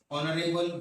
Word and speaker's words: honorable: There are others also like honorable boy, honorable person. So here this particular H, we feel that it is consonant, but we have to pronounce the word. honorable.